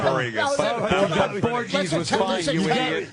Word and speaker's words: Borges: Borges.